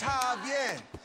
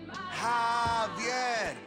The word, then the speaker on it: Javier: It's Javier. It's pronounced like an H. Javier.